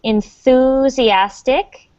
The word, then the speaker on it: enthusiastic: So remember, if you're learning English, it's a really good idea to practice the TH sound. So that's enthusiastic.